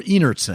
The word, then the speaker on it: Einertson: Is it Einertson or Einertson? It's pronounced Einertson. Einertson with a hearty.